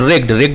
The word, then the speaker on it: wrecked: एंड रेग्ड मतलब होता है टूट जाना, WRECKED. ये रेग्ड नहीं पढ़ेंगे, रेग्ड पढ़ेंगे. रेग्ड, आर से, W इज साइलेंट.